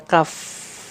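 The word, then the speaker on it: كاف: salah pengucapannya ke huruf Kaf karena makhrajnya berdekatan nih kalau Kaf tadi ya pangkal pangkal lidah paling belakang menyentuhnya ke langit-langit lunak kalau Kaf Dia sedikit ke depan ya sedikit ke depan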